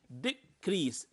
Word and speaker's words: decrease: is a noun okay here the last one decrease decrease decrease so the first uh stress syllabus